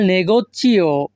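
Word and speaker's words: negozio: হবে সোন আন্দাত আল নেগোচিও সোন আন্দাত আল নেগোচিও এখানে জি আই ও এর উচ্চারণটা হবে চিও চিওজিও হবে না সরি চিও হবে চিও এখানে সোন অর্থ আমি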